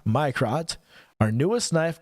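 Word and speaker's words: Mirco: checking out the microt m i r c o pronounced my y crot my crot our newest knife called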